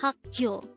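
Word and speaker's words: 학교: term for school is hakyo again it's haku this is pronounced as two-syllable word the first syllable is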